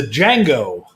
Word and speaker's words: Django: this this is the django that's right the d is silent just like in my last name and this is spiced